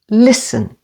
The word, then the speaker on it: listen: the first syllable Christmas and listen again with the stress on the first syllable listen you is silent with